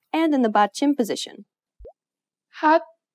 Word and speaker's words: 핫: This letter usually makes an H sound. In the 받침 position, you need to read it as T.